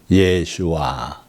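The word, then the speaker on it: ישוע: 성도들도이 이름을 많이 썼어요이 예수라는 이름은 히브리 발음으로 하면 예슈아 해가지고 건져내는 자다 그런 뜻이에요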